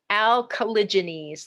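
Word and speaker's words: Alcaligenes: Alkalogenese, that's how you say that genus.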